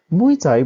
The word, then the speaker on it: mui tsai: The popularized pronunciation of these characters follows Cantonese rather than the Mandarin Meizi. Another term that was occasionally used in sources was jufa or pig flowers. Mui Tsai broadly referred to young